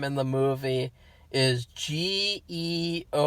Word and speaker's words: Georg: in the movie is g-e-o-r-g it's georg george it's georg that's how you pronounce it in german sophie georg but in the movie for some reason everyone calls them gayog or they call him